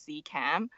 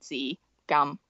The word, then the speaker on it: Tsz Kam: different pronunciation yeah yeah i just tell people that my name is z cam but the correct way to say those two words is actually c gum okay all right well